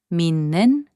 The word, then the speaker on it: 믿는: When the final consonant 디귿 is placed before 니은 or 미음, its sound changes to 니은. So 믿는, which means believing, is pronounced as 믿는.